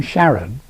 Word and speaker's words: Charon: He came up with the name Sharon as a slightly changed pronunciation of the name of his wife, Charlene, with on as in electron, positron, etc.